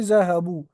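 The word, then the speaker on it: ذهبوا: जैसे ज़हबू, वो सब मर्द गए। Note that there is an elif at द एंड ऑफ the word which is not pronounced, ये हमने देखा।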